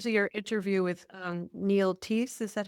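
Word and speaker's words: Theise: Well, may I ask you, since I just listened to your interview with Neil Teese, is that how you Yes. pronounce it? Peace. Yeah, Neil. Teese, Mr.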